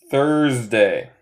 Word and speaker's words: Thursday: Okay, so we have Tuesday, Thursday, Tuesday, Thursday. Los dos de los S suenan más como abeja. Z. Tuesday.